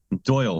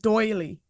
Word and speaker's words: Doyle: It's funny hearing you guys pronounce it Doyle because I hear other people pronounce it doily. Is that how you say it? Because I I don't know. I have no I idea. I just just Doyle is a last name in Ireland, so everyone just says Doyle.